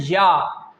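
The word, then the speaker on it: ي: The three, jeem, sheen, and ya, will pronounce from the same place.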